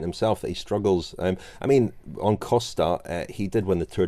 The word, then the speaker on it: Costa: And I know they certainly call him Adrian, but he seems to pronounce his surname Costa, although he is riding as a stagiaire for